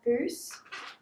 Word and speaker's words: Bose: These are Bose.